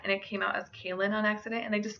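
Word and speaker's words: Caolan: My first Caleb alternative I have is Kaelin. This is an Irish name that means slender, and it can also be spelled C-A-O-L-A-N. It is also sometimes pronounced as Keelin.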